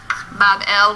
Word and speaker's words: Babylon: So the grateful gods now recognize the sovereignty of Marduk, and they build him a magnificent shrine or temple in Babylon, pronounced Bab-el, which simply means gateway of the god, the gate of the god.